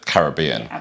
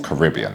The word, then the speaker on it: Caribbean: Florida Keys, which is pretty much the Caribbean, or Caribbean, as the Americans say at that point, and everything in between.